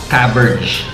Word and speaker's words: Caberg: I'm always emphasizing the pronunciation kasi we've been hearing Caberg, Caberg, or Caberge. Pero based on research daw, it's actually Caberge.